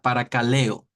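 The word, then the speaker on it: παρακαλέω: que originalmente se escribió que se que se pronuncia para caleo la palabra caleo significa proclamar hablar pero cuando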